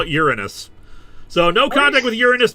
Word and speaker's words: Uranus: Sounds like urine. I suggest we use the more mythologically accurate pronunciation which we arenos or uranos.